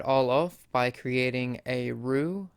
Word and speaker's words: roux: off by creating a roux spelled r-o-u-x but pronounce rue because french people be talking all fancy-like to create a roux